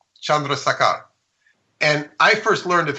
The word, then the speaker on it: Chandrasekhar: regular science, by a man, if I can pronounce his name right, an Indian astrophysicist named Subramanian Chandrasekhar. Chandrasekhar.